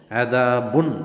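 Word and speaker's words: عذابٌ: എന്ന അവിടുത്ത് ഇൽഹാർ ചൊല്ല് അതായത് വ്യക്തമായിട്ട് കേൾക്കണം ബുൻ എന്ന് തന്നെ നൂന് തെറിച്ചു പോണം അദാബുൻ ചൊല്ലുമ്പോൾ ഒരു നൂൺ പണ്ട് അവിടെ ഉച്ചാരണത്തിൽ ഒരു നൂൺ പണ്ട് എൽത്തിലില്ല അപ്പൊ ആ നൂൻ അവിടെ തെറിച്ചു പോകണമെന്ന് അദാബുൻ അലീം അലീം എന്നവിടെ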